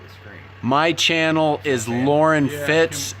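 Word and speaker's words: Loren Fitts: very top of the screen my channel is lauren fitz it's spelled l-o-r-e-n f-i-t-t-s um victor does have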